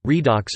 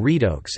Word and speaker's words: redox: Redox, short for reduction oxidation reaction, pronunciation, redox or redox, is a chemical reaction in which the oxidation states of atoms are changed.